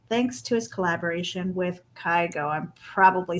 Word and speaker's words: Kygo: Oh yeah, Kygo.